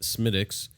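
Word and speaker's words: Smithwick's: um so keith brought smitick's red ale uh it's spelled like smith wicks yeah but pronounced smitics smitics and sons ireland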